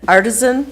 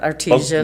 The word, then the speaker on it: Artisan: I was able to attend the lunch bunch at Artisan. Did I say it right? Yep. Pizza? Okay, it's not artesian.